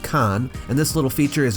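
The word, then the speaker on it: kaan: here at the bottom is the snake image pronounced Khan and this little feature is a grammatical prefix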